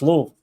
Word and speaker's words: Louisville: It's Louisville. One syllable, Louisville. You say Lou and you just say Lou.